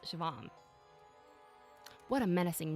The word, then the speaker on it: Siobhan: It's pronounced Shivam.